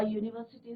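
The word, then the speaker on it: university: आई एम एन यूनिवर्सिटी होगा या अ यूनिवर्सिटी student होगा। तो यहाँ पे भी जो है यू का प्रोनाउंसिएशन नहीं हो रहा, यूनिवर्सिटी, राइट। तो कॉन्सोनेंट साउंड आ रहा है, तो आई एम अ यूनिवर्सिटी student.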